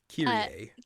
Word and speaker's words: Kyrie: They pronounce her name weird. Kyrie.